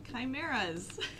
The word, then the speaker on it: chimeras: look in the library for a book about chimeras that's the correct pronunciation nice we all look yeah I'm going